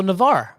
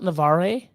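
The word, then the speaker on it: Navarre: awesome job um oh the E is silent so Navar Navar beach balls Seth awesome not navare not naare Navar cool I bet I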